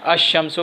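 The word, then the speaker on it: الشمس: उसी तरह एक लफ्ज़ है अश-शम्सु, अब अलिफ लाम के बाद शीन है तो ये शीन से पहले जो लाम है उसको साइलेंट यानी उसको नहीं पढ़ा जाएगा, अश-शम्सु पढ़ा जाएगा।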